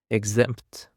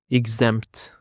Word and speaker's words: exempt: Now, let's jump on to another word, which is exempt. Exempt. Exempt. The stress on the second syllable, exempt.